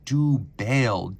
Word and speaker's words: Dubail: for a French retailer that is spelled du Bale dub a i l that is where this